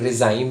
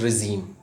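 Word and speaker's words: regime: रिज़ाइम भी बोलते हैं, रिजीम भी बोलते हैं. तो रिज़ाइम और रिजीम, एक करेक्ट प्रोनाउंसिएशन इज रिजीम.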